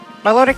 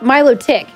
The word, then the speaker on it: Milotic: Iris fafs who says the anime pronounces this very good noodle friend number 350 as Milotic please discuss melodic is right yeah I agree well they it's Milo tick that's how they say it in the anime yeah melodic is what